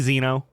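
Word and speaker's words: Xeno: spells your name more often with a z Zeno oh that's a AI it's spelled x e n o Zeno x n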